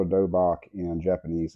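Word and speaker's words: 도복: Um, let me see if I can find, I think that's spelled Dohbock. Of course, I don't have that in my notes, but I know it's pronounced dobak. In Korean, it's called a dobak.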